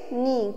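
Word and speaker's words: knee: joint को क्या बोलेंगे नी के एन डबल की नींव गया इसका के साइलेंट हो होता है तो के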